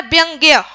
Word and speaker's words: व्यंग्य: वाला व्यंग व्यंग और ये क्या है व्यंग्य है ना ग इसमें साइलेंट हो जाता है उच्चारण दोनों का एक ही होता है विकलांग व्यक्ति कह